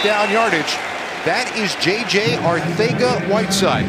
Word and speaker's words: Arcega-Whiteside: Arcega-Whiteside. Now, it looks like Arcega-Whiteside, but he's been asked, and in the King's Spanish, that C is pronounced like a TH.